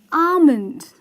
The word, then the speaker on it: almond: what is it exactly it is almond that's right the pronunciation is a month because the El here is silent I'm sure it's getting